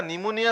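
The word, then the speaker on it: pneumonia: পিকুলাৰ ৰুলস আছে যেনেকা নিমোনিয়া সাউন্ডটো ওয়ার্ডটো কি দি স্টার্ট হয় কোন লেটার দি স্টার্ট হয় পি দি স্টার্ট হয় কিন্তু আমি পি টু তো প্রনাউন্স নকৰো সাইলেন্ট থাকে এটো দ্যাট ইজ দ্য রুলস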